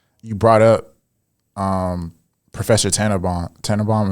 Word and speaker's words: Tannenbaum: Tannenbaum, am I pronouncing that right? Yeah.